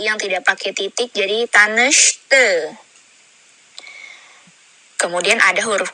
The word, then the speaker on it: Tanış: Jadi ini seperti sya gitu ya, ada y-nya di sana, Makanya dibacanya tanesh gitu, bukan tanes tapi Tanış ya. Kita ucap bersama tanış. Oke. Dan ini i-nya yang tidak pakai titik, jadi dia bacanya e.